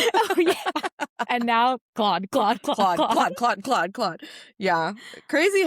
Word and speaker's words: Claude: Yeah, I remember last year you didn't even know how to pronounce his name. Really? Yeah, in our episode you're like, Cloud. Oh yeah. And now Claude.